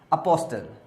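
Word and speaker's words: apostle: अपोस्टल। अपोस्टल वैसे बोलते T silent होता है, लेकिन मैं अपने समय में अपोस्टल पढ़ता था ताकि स्पेलिंग याद हो। अपोस्टल बोलते हैं, इसको टी साइलेंट रहता है यहाँ पे, अपोस्टल।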